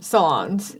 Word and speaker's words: Solondz: Solondz.